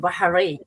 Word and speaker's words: Bahrain: today we are streaming all the way from Bahrain um is that how I say it is that how you say it lady POS how I say it correctly Perfecto it's called baharin Bahar yeah bah yeah that one baharin baharin